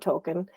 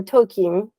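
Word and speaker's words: Tolkien: I did not know all this about Token, or Tokin, I guess it's pronounced.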